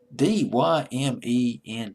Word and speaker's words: Dyment: His real name is Adam George Dement. Dyment, I believe is how you pronounce his last name.